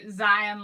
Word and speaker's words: Zion: to properly pronounce Zion Zion like a lion yes but I've been